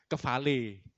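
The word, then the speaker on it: κεφαλή: Bacanya PH tapi F. Kevale.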